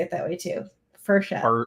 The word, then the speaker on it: Frechette: My father never pronounced our name correctly. Frechette? No, he said Frechette, like it was F. It is French. It's French Canadian, actually. Michel Frechette. Frechette, because it's double TE.